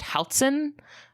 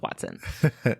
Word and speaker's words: hoatzin: Do you know what language it's from? Yeah, it comes from the Nahuatl language, the language spoken by people that lived there. Okay. I don't speak that language, but I went on Merriam-Webster and I listened to how they pronounce it on that website, and I'm going to go with Hoatzin.